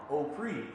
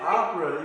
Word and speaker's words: OPRE: acronym is OPRE, so they would like pronounce it OPRE. But I'm like, nah, it's opera, you know, it's on some opera shit, you know, like I like opera like a mug.